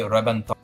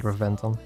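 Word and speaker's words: Reventón: There's an accent on the O of the name, and then for whatever reason in Italian the B has a B sound, so it makes a B sound as in boy. So Rebenton, I think is how you pronounce it. In Italian.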